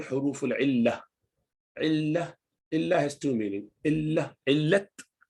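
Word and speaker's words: علة: When you stop at rounded ta, it becomes illah. Actually, it is illatun. And in Urdu language, you would say illat. Some Arab use illat as well. They pronounce the last letter as well.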